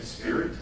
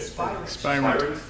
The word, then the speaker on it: Spirent: Spirit? Okay. Spirent.